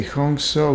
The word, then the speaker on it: Hong So: Hong is Hong and So is SAW. That means I am spirit. We say Hong So, which are Sanskrit words.